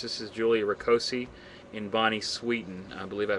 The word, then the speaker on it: Sweeten: case number 756 this is rosi and Bonnie Sweden I believe I pronounced that correctly right Deborah rosi yes you